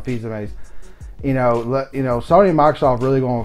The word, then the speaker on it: Fils-Aimé: I always say his last name wrong. Fils-Aimé.